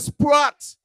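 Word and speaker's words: Sproat: And because us as Kittitians like to just shorten things, we say Sprott instead of Sprott. Sprott.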